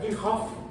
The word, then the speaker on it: Kirchhoff: se escribe así, Kirchhoff, se pronuncia Kirchhoff en alemán también.